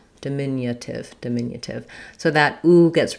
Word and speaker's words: diminutive: If you're working on your flap T anyway, then you can use more of that flap light D here, diminutive.